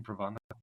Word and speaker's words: Provodnikov: When he fought Provodnikov, and right, is that how you pronounce his name, Provodnikov?